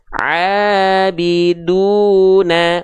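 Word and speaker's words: عَابِدُونَ: Abiduna. Ne, bukan ne, tapi na. Abiduna.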